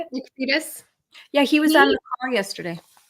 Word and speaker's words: Freitas: Nick Freitas.